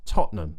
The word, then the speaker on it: Tottenham: this fake T to imagine you're kind of swallowing the T to Totum Totum it's a bit like being sick right that's the kind of thing that we're trying to do Tottenham I don't think I